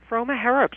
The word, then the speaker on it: Froma Harrop: Froma Harrop, you were perfect.